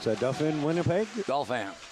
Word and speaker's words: Dauphin: How do you pronounce that? Dauphin, Winnipeg? Dauphin. Dauphin, Manitoba?